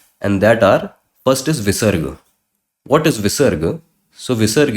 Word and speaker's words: visarga: and this two dot, this is known as visarga. Visarg, if you need to know it in English. Visarga. This. How to pronounce visarga?